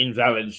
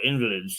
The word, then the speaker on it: Invalids: what are known as either the Invalids or Invalids, whichever way you want to pronounce it.